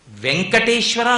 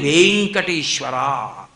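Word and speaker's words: వేంకటేశ్వర: వెంకటేశ్వర లేదు, వెంకటేశ్వర. అక్కడ వేకి దీర్ఘం ఉంటే మీరు వేం అనాలి. వెంకటేశ్వర అని పేరు పెట్టుకుని నా పేరు వెంకటేశ్వరరావు అని అనకూడదు, వెంకటేశ్వరరావు అనే చెప్పాలి.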